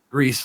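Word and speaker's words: Gris: by Spanish developers so I was told it was pronounced grease like grease if you can roll the R if you can these yeah grease what it is if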